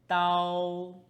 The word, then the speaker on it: 刀: The second series' first character is "dao1" "dao1" 刀's meaning is "knife" 刀 looks a